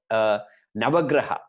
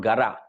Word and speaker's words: Navagraha: can't even pronounce Navagraha it is Nava Graha graha means planet not Guerra a lot of people here pronounce Guerra please get that pronunciation right it is never Gras